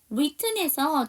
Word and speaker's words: written: written에서 WR로 시작하는 단어는 W가 묵음이고요.